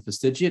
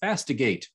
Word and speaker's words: fastigiate: just a year ago, I pronounced that word incorrectly. For some reason, my brain ignored the second I in fastidiate and I pronounced it fastigate.